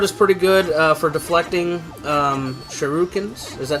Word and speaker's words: shuriken: And the sword is pretty good for deflecting shurikens.